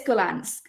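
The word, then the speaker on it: Gollancz: I was going to ask you how to pronounce that what's your Publisher's name it's goans goans all right Natasha has lived in Japan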